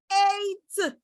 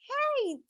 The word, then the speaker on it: hate: Now remember, the magic E would be silent. You will not pronounce it. Whenever you see it at the end of a word, you will not say ate. No, no, no. You will not say ati. No, no, no.